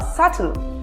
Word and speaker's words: subtle: So, how do you pronounce this one? Is it subtle or subtle?